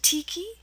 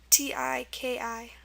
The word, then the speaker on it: tiki: sound okay and um examples to end with i let's put them on this side um okay let's um one example is Tangi t a n GI I see n an i and also Tiki t i k i Tangi is basically a funeral right um and Tiki is a wood or stone image so those are two words ending an i for the e sound one thing I did